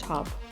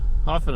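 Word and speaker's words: Höfn: It's actually pronounced hub.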